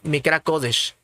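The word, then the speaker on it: מקרא קודש: español k2 con vocación en hebreo se pronuncia mi cracodesh Aquí está Mire mi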